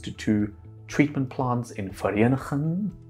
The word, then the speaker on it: Vereeniging: It then travels in canals and pipelines to two treatment plants in Vereeniging. If you say it like that, Vereeniging. It's a difficult word to say. Vereeniging.